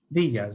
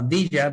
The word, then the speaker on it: villa: and uh turned into villas or i'll usually uh use that name interchangeably uh vija being the spanish pronunciation and villa being the english pronunciation some had been farmers